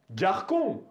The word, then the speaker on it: garçon: Cédille ставится только под буквой C перед A, O, U, чтобы произносить К как С.